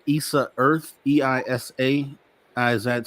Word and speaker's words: EISA: You guys have you've created something called EISA Earth, EISA.